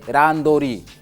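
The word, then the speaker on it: randori: é a l Liv as pessoas falam randor não mas é o termo a pronúncia correta do Japonês ao português é randor randor pronúncia correta do Japonês é esta então eu gostaria que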